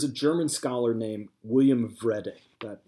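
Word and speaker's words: Wrede: German scholar named William read a that W is pronounced like a V in German and he came up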